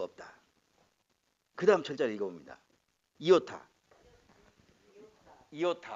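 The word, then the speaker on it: ἰῶτα: 비슷한데 위에 종이 없어 점이 없어 아 그래서 이오타 그리고 이름이 2호 타야 이오타 그래서 다르면 몸인데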